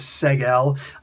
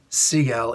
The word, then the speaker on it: Seg-El: The big story there is seg-el. They keep on pronouncing it seg-el.